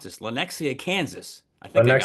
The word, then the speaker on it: Lenexa: But he's actually from is it I can't even pronounce this. Lenexa, Kansas. I think I got Lenexa, that. Kansas. Lenexa, Yep, Kansas.